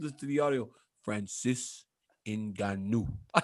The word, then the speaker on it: Ngannou: Nagano? Nagano? When he does it in the microphone thingy. Who? Francis Ngannou? Yeah, what he does. Ngannou. Francis Ngannou. Hey, Francis Ngannou. Hey, oh, that's how you say his name?